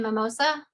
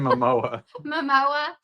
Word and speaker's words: Momoa: So, I am kind of excited to see it, but I do feel like Jason, how do you say his name? Mimosa? Jason Mimosa. Is it like the drink? Jason Momoa.